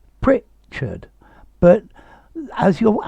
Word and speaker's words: Pritchard: do you mean george pritchard asked colonel this pronunciation of pritchard um you you haven't got it perfectly right let's see firstly i think your major problem is the stress um george pritchard pritchard but as your accent